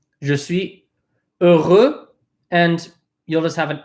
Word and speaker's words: heureux: If people have any questions, please say heureux again so that you know I'm saying it right.